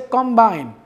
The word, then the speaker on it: combine: If I say combine, if the stress is on the first syllable, it will be a noun. If the stress is on the second syllable, the word will be a verb.